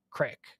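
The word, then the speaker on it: craic: have it that's why c-r-a-i-c crack crack pronounce crack in american english all right so there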